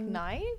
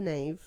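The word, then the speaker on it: Knave: Um, the nave and something nave like naive or no, it's the nave. It's pronounced the nave.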